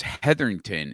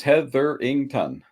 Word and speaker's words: Hetherington: uh you know and your last name is heatherington is that correct is that how you pronounce it yep yep just the way it sounds heatherington had 13 10.